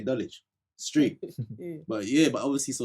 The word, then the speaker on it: Dulwich: Or like, there's an area in London called Dulwich, but I say Dulwich.